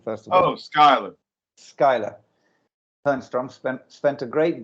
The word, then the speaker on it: Schuyler: the internet somewhere it says how do you pronounce it first of all oh skylar skyler bernstrom spent spent a great deal of his